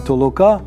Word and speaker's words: толока: може і не здатися через неправильний наголос закликав режисера шановного Михайла ілнка говорити бодай про подвійний наголос що відповідатиме суті його фільму толока толока тобто витолочення руїна І відбудова